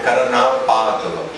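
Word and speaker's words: karaṇāpāṭava: O terceiro A é longo e o quarto A também é longo. Então seria Karanapatava.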